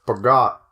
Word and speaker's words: Peugeot: I've only ever heard Germans pronounce it, and they pronounce it Peugeot. Correctly. Well, correctly, they pronounce Peugeot. That's what it is, because it's French.